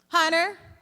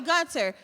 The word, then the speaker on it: Gunter: What's your name? Hunter? Gunner? Am I saying it right? Okay, Gunter. Gunter. Okay.